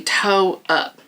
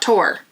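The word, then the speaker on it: tore up: So my toes were just toe up is what we would say here. They just be toe up in Texas, East Texas. That's how it's said, not tore, toe.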